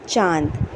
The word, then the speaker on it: चांद: लेकिन यहां हम पढ़ेंगे चांद।